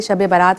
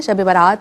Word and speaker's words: شب برات: بات ہو رہی ہے شب برات یا شب برات، جیسے کہ مفتی صاحب نے بھی بتایا کہ دونوں تلفظ ٹھیک ہیں.